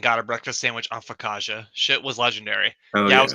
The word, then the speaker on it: focaccia: He says, focaccia, pronounced focaccia?